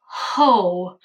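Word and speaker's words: Heaux: Board Ho, but it's spelled H-E-A-U-X, not Board H-O, which I was like, we're being classy, Fenty.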